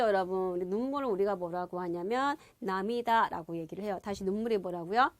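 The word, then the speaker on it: 涙: 눈물 루자로 온 건데 남이다라고 읽어요.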